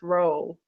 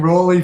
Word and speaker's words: Rolle: by the way my my last name is pronounced ro ro so the okay saying Ry for as long as I've known you I'm sorry oh that's quite all right it's Ro like esero from the good time right yeah it is